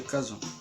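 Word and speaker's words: cajón: Se escreve Cajon, mas se pronuncia Cajon.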